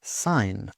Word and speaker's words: sign: Silent G often comes before N. Sign.